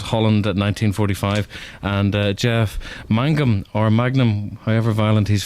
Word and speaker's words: Mangum: stuff but I suppose if people say Magnum rather than Mangum uh it actually adds